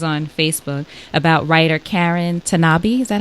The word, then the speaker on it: Tanabe: believe it was on Facebook, about writer Karen Tanabe. Is that how you pronounce her last name?